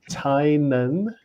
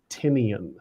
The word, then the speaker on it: Tynan: and by the way it is pronounced tai nan it is not pronounced tinian so yeah yeah okay